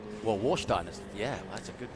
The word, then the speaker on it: Warsteiner: Warfeister? Warfmeister. Hang on, where are you? Right, Warsteiner.